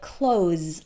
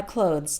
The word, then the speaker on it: clothes: might actually sound like clothes like as enclosed the door put on my clothes take off my clothes the th is there but it's very very short and when you're listening